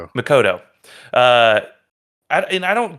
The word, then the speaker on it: Makoto: I don't know how to pronounce his name. It's like Mokco. What? Uh Makoto. Makoto.